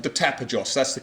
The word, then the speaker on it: Tapajós: We're in a district called the Tapajós, that's the correct pronunciation.